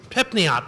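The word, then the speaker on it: Pripyat: actual small City that pipot pipot that's how you pronounce it it's it's abandoned with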